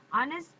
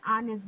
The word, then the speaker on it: honest: can't say ha we we didn't pronounce the h just honest honest so an honest